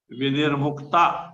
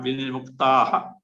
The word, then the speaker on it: विनिर्मुक्ता: Vinirmukta, not vinirmuktaha. Vinirmukta sa.